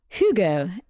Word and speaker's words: hygge: of cozy enjoyment oh really yeah it's called hugo it's spelled h-y-g-g-e and in fact it's taken over